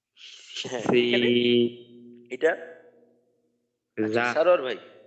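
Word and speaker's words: ث: পারে পারে আচ্ছা হ্যাঁ যেমন সা বলার সময় জিহ্বার আগা সামনের উপরের দুই দাঁতের আগার সাথে লাগবে উচ্চারণটা হবে সাবে হ্যাঁ মাশাল্লাহ সাম হা দাল জাল আল র যা সি এটা সারোয়ার ভাই যা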